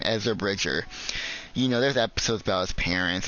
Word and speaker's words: Ezra Bridger: is depth is actually with the main character, Ezra Bridger. That's how you say his name, Ezra Bridger.